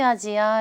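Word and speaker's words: アジア: 아시아 바램을 일본어로 이렇게 카타카나 로 발음할 때는 아시아가 아니라 아지 하라고 하는 것도 같이 알아두시면 좋겠어요 그래서 동아시아 라고 할 때는요 토 와샤 라고 하지 않고요 히가시 아지야 라고 합니다 동아시아는 b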